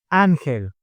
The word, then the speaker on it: Ángel: It goes in the first vowel. Ángel.